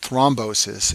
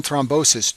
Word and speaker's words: thrombosis: complication is called stent thrombosis and this name rhymes with restenosis but it's a completely